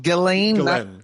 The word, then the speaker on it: Ghislaine: The other question is Ghislaine. Is that how it's pronounced? Ghislaine, Ghislaine.